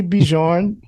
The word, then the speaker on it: Björn: E Björn, Ulvaeus, that one I'm not sure if I said it right. Björn.